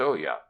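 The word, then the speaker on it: olla: swings from a beam is an Oya pronounced Oya the swarthy Mexican laborers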